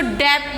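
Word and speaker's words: debt: इसको डेट नहीं पढ़ेंगे, बी साइलेंट होता है, डेट।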